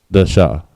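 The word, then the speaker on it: דשא: The word sprout in Hebrew is dasha. Da and sha, both characters are independent, so it's pronounced dasha.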